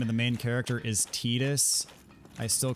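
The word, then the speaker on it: Tidus: that the name of the main character is tetus I still call him Titus I refuse to change you need 36 okay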